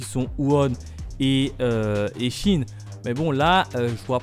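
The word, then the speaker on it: Qin: alors oui petite parenthèse je viens d'apprendre que keane se prononcer en fait chine du coup à partir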